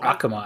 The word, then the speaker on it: Akuma: It's not like a main Akuma. Yeah. Or Akuma, as it'd be pronounced in Japanese.